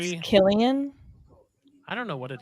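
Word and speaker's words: Cillian: And let me tell you what, I think it's those pronounced three- Killian. I don't know what it is, to be honest with you. I had to look it up. It is Killian.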